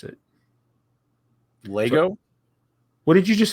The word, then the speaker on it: LEGO: a radio read had the pronunciation for Lego l a y g o Lego that's how you pronounce it that's how they wanted